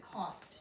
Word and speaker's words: cost: o s t and like I we had just been talking about OST in post says oost OST in this word does not say oost that's one of